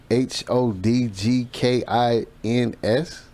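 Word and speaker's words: Hodgkins: his last name is h-o-d-g-k-i-n-s hopkins hodgkin huskins i mean because you know some people some people pronounce their stuff differently you know you know we're gonna go with hodgkin's that's that sounds good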